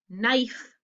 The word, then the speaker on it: knife: silent letter the g k n knife what's the silent letter the k what's the silent letter